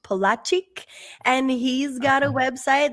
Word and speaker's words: Polaczyk: And I think Jakub Polaczyk. No, that's wrong. Rochelle? Yes, well, you can pronounce it Jakub or Jacob if it's easier for you. His last name is pronounced Polaczyk, and he's got a website that Kevin's talking